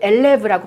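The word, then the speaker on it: élève: 이것도 엘레브라고 발음을 하죠. 의 위에 악상이 붙어 있으니까 엘레가 되겠고 여기는 브가 이렇게 발음을 하는 거예요.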